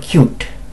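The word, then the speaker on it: ℃-ute: going to wonder huh the group is called cute but it is spelled c-u t yeah songs that were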